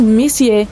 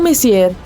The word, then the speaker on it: Messier: Bom, o M significa Messier, pronunciado Messier e não Messier.